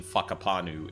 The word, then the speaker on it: Whakapanu: Like I I've paid attention to your dialogue and naming enough to know that the wh in fuckapanu is pronounced like that.